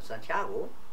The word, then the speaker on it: Santiago: erste Frage wurde dein Name schon mal falsch ausgesprochen ja nicht nur einmal das ist sehr sehr oft passiert ja mein Name Santiago ja oft viele am häufigsten war sano Sango